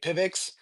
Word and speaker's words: PIVX: The pronunciation, I guess it varies. Everyone's got their different way, but we just say Pivix.